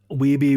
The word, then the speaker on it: Wiebe: It confuses me that Andrew Wiebe says no on that one. Oh, Wiebe rhymes with dweeby, okay?